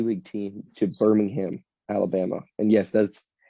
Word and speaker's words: Birmingham: G League team to Birmingham Alabama and yes that's it is pronounced Birmingham in Alabama because of the accent um but yeah so that's the Birmingham Squadron so that yeah